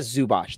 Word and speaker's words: Zubac: for the LA Clippers iasa zubac IAT iita zubach that's how you say it iita zubot um